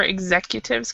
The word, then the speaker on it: executive: executives okay exactly yeah we have the verb to execute and so people want to use to pronounce it like that but we actually pronounce it executive executive um it is strange